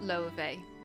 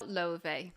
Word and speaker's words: Laufey: and her name is Laufey. But internationally, a lot of people also pronounce it Laufey. But I will try my best to pronounce the proper Icelandic version.